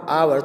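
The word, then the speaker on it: hour: students क्यों नहीं करते हम क्या कहते हैं एन आवर आवर तो यह जो आज स्टार्ट हो रहा है वे साउंड है इसीलिए हमने बेल का इस्तेमाल किया है कि ऐसे NS2 यहां बेल्ट साइलेंस है और यह हमारा साउंड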